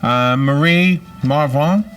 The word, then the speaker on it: Marie Marvingt: said I can't wait to read the book Murray Marv wrong am I saying it right yeah what was